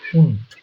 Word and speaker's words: und: এই ডেটা যদি শেষে থাকে তখন এটা একদম টয়ের মতন উচ্চারণ হয়, ট, উন্ট।